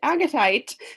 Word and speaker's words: Agatite: It's pronounced Agatite, the street.